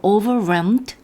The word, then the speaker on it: overwhelmed: 그런데 overwhelmed 하면 이게 묵음은 아니거든요. L이. 그러나 잘 들리지는 않습니다. They were overwhelmed with grief.